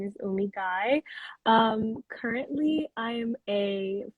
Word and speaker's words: Gueye: name so will you tell me the correct pronunciation of your last name yeah guy guy all right everyone welcome to let's talk thursdays